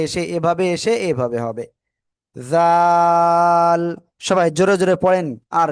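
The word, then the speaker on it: ذال: ওই জিহ্বার আগা উপরের দুই দাঁতের আগাই লাগাতে হবে, লাগিয়ে 3 আলিফটা নিয়ে উচ্চারণ করব। জাল, জাল। সবাই একসাথে জোরে বলেন, জাল।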